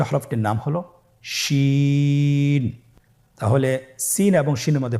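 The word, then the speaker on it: شين: বাকি 2টি হরফ নাম হলো সিন এবং শিন। সিন এবং শিন। সিন হরফটি উচ্চারণ ক্ষেত্রে অবশ্যই 3 আলিফ টেনে পড়তে হবে।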